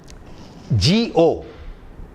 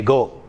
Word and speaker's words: go: For example, in a word like G-O, normally we say go. It's a wrong pronunciation. It is go, go.